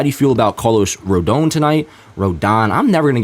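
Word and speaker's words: Rodón: in my graphic here he does have an accent over the O So apologies for me always messing up apparently the pronunciation of his name Carlos rodon bottom line is having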